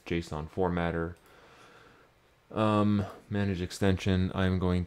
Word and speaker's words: JSON: JSON, not JSON, JSON. That's how I pronounce it. And you watch enough of my videos where I talk about it, that's how you will pronounce it as well.